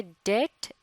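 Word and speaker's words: debt: ओं कि यह लव थे डेट इसमें लैटर भी साइलेंट होता है और इसे मुराद है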